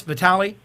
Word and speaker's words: Vitali: your names uh correct U we have Chris Vitali I say it right Chris yep all right